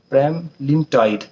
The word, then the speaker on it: Pramlintide: This was all about the prema prem prema lean tight prema sorry for pronunciation wrong, pronunciation issue. Premlin Premlintide.